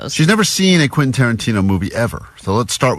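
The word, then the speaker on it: Quentin Tarantino: She's been saying quasa quint quainton quinton.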